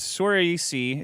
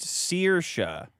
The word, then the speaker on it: Saoirse: Flano says Sorisi is pronounced Saoirse. It's an Irish word for freedom.